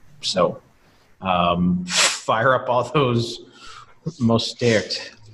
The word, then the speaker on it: Mostert: So fire up all those Mostert. How do you say his last name, Peter? It's the French pronunciation, Mostert.